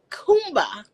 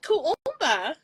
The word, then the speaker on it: Kuumba: funny is this so the next one is Kumba is that right if it's two words you have have to extend it Kumba Kumba oh just two years right yeah K oh said it wrong earlier um kuumba represents creativity using creativity to make the community